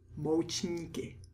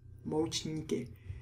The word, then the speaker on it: Moučníky: Moučníky. Moučníky. You could see either word on a menu. Dezerty is probably more common nowadays. Moučníky is the Czech word for desserts. Moučníky.